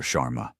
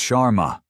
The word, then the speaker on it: Sharma: Chararma." He butchers the pronunciation of her name. Another small deliberate cut. "It's Sharma."